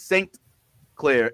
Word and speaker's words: St. Clair: Now, to be clear, like Jazz is Sinclair, Sinclair. Yaz, our buddy Yaz, is Saint Clair, Saint. Oh, okay. Clair. Yeah. Okay. I spell it ST period CLAIR.